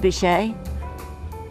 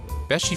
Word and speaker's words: Beachy: It's not pronounced Bichet. Beachy Furniture, located next to the Mermaid a few miles from the Delaware beaches on US Route 9.